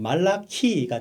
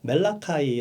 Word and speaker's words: 말라기: 하나님의 사자 란 뜻이죠 히브리어로 발음하면 말라 키가 되구요 영어로 발음 하며 멜라 파이 라고 발음합니다 말라기 서 가 중요한 이유는